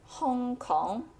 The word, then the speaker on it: Hong Kong: in cantones and the English name Hong Kong is from the Cantonese Hong Gong now let's